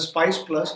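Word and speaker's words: SPICe+: Christian as spice + which is pronounced as a spice plus normally replacing the existing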